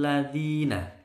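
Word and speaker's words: الذين: bacanya jelas lam yakunil ladziina ya zina sel panjang dua ketukan bacaan Mad Thobi'i Zeni dibaca di lidahnya nempel di gigi atas di bukan Z ya lam yakunil ladziina kafaruu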